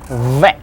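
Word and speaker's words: в: Next one is v. Looks like English B, it's a v. Like English V, but with an e.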